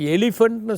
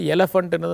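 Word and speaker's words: elephant: இப்போ ஒரு உதாரணத்துக்கு எலிஃபண்ட்னு சொல்லக்கூடாது, எலஃபண்ட்டுன்னு தான் சொல்லணும்.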